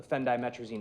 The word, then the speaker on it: phendimetrazine: That is spelled PHENDIMETRAZIN. Phendimetrazine.